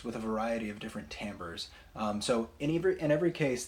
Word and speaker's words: timbre: sounds and this is tambour spelled TI m BR e it looks like timbre but it's pronounced Tambor so Tambor basically describes the quality